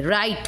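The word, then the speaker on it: write: नहीं हो रहा है, राइट हो रहा है, राइट, र आर से प्रोनाउंसिएशन हो रहा है।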